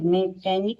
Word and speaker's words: mechanic: MECHANIC मैकेनिक में क्या है, एच साइलेंट है।